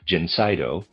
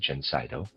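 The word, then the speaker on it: Gencydo: This remedy which we manufacture under the name Jenseno and I'll spell that it's Ge N C Y D O. I'm going to pronounce it Jenseno is effective in the great majority of hay fever cases.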